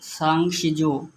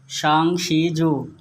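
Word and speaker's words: 三十九: হয়ে যাবে ইনশাল্লাহ 39 বাংলা 39 চায়না উচ্চারণ হবে সাংসিজু সাংশিজু সাংশিজু এভাবেই বলবেন তাহলেই হয়ে যাবে অল্পের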